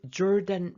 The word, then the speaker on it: Jordan: To go to the valley of the Jordan River. 요르단 강 계곡으로 가라. 이 조던 발음이 요르단이죠.